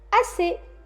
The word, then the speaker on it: assez: passons au mot suivant il s'écrit as SS et il se lit assez j'ai assez mangé combien